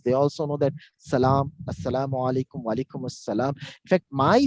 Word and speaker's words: Assalamu alaikum: Assalamu alaikum. Okay. Now, how the Arab people say Assalamu alaikum? They say Assalamu alaikum.